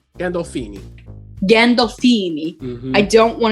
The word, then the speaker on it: Gandolfini: Gandolfini.